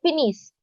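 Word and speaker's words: finissent: Something like finis. Assume that the NT is not there. So finis. So never will you pronounce the NT in the end for third person plural.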